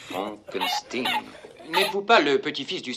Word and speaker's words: Frankenstein: Mon nom, monsieur, se prononce Frankenstein.